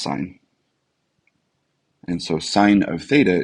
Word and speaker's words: sine: function as a function it's written as s-i-n syn but it's pronounced sine and so sine of